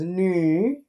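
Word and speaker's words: 女: And the pronunciation is nu, third tone.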